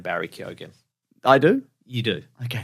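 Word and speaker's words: Keoghan: I don't know him some people say it without the G but he was like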